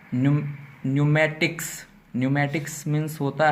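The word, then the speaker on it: pneumatics: against silent हो जाएगा तो जब भी पी के बाद एंड आता है तो पीकोस साइलेंट कर लिया जाता है ठीक है ना है जैसे यहां पर लिखा है नियम मैट्रिक न्यूमेटिक्स मींस होता है है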